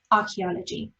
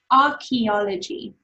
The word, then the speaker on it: archaeology: So let's try to break down archaeology. I want you to try it with me because again, the C is a little bit tricky. So it's R, key, right? You see key, A, L, G, archaeology.